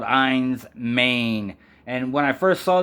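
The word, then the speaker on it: Enys Men: Cornwall these islands and it's uh it's actually pronounced eins Maine and that means island of stone or stone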